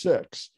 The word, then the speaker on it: Sikhs: say six um and apparently in india it's pronounced six but uh uh that has other connotations in our society so sikhs but if i if